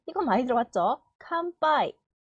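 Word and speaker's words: かんぱい: 칸빠이. 응 뒤에 오는 것도 약간 된소리처럼 발음이 되는 경향이 있는데 모든 단어가 그런 건 아니에요.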